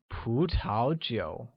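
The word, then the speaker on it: 葡萄酒: Wine translates as 葡萄酒, which carries a mid-rising tone on the first U and a falling rising tone on the second U, becoming 葡萄酒.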